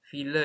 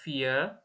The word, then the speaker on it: ville: Ville itu ya. Itu bacanya nggak vie, tapi ville.